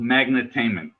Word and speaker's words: Magnetainment: It's called Magnetainment, which is a magnet and entertainment.